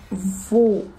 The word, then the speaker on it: vaut: Поэтому мы произносим именно «vaut», а не «veut».